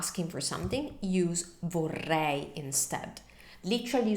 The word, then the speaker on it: vorrei: It's the R, the Italian R, and it's a double R, vorrei.